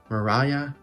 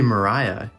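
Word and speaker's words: muralla: Paul Conrev con Mariah para romper. I think I kind of pronounced that wrong. Should be Mariah, because double L is a Y.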